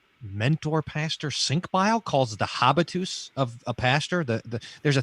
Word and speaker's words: habitus: It's like habit, right? Just hear the word habit.